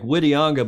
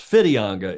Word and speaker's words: Whitianga: Club and it does it looks like whitianga but Hamish if I'm correct it's pronounced fidianga in Maori is that right with an F the W that's correct that's a very good